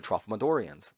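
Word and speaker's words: Tralfamadorian: about he uh also has encounters with the trophomedorians so some people have problems with this pronunciation i'll do it slowly trophomedorian so trophomedorians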